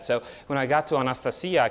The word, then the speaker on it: Anastasia: Well, her parents actually call her Anastasia because that's how they pronounce it in Russia.